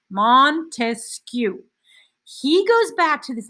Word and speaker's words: Montesquieu: you're illustrating the concept montesquieu montesquieu has three syllables say it out loud montesquieu he goes back to